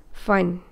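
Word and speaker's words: Pfund: Lyman, Balmer, Paschen, Bracket and Fun. Okay, so macam mana nak ingat? Lyman, Lehmann, Balma, balik, pasien, pasar, bracket, break, fun, putus. Okay? So, fun ni mesti ejaan betul lah. P-F-U-N.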